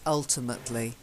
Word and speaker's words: ultimately: there's no mating ultimately it's not like ultimatum it's ultimately ultimately yeah I'd say oh